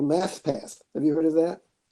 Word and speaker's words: Mathpath: other thing I wanted to mention to you was a summer camp called Math Path. Have you heard of that? No, haven't. Mappa? Math Path. It's spelled Mathpath. Math Path.